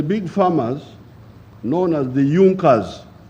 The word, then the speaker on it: Junker: it had the big farmers known as the junkas it's written in the junkers but it's pronounced as the jungkas the in the German Kingdom of Prussia one